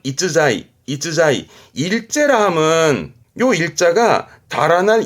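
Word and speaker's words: 逸材: 발음은 이자이 이자이 일제라 하면요 일자가 다할 일자기도 하고 편안할 일자기도 하지만 우리 가장 많이 접하는 부분은 일품이다.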